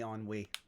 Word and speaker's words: ennui: Whether in wanting love and giving love and the usual things, without change, there's only ennui.